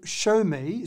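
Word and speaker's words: Xiaomi: there's a company called show me spelt x i a omi and i'm always never sure to pronounce it show me or show me but basically they've now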